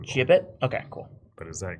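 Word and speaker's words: gibbet: I don't I pronounced jibet according to Google. Jibbit.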